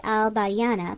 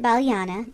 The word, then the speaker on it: Balyana: at the boat landing we ought to have called it al bayana but we didn't we called it balyana and we pronounced abidos